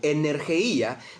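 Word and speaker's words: ἐνέργεια: se traduce como 'operación es el término energía así se pronuncia en el griego energía del cual nosotros traducimos al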